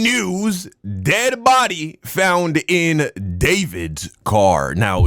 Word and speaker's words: D4vd: Dead body found in David's car. Now, it's D4 VD is how it's spelled. I think he just goes by David, though.